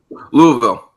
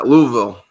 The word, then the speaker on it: Louisville: you pronounce Louisville Josh Louisville yeah you just got a Mumble it that's the southern way anything with a you just anything before the vill Mumble it hit that first letter V yeah so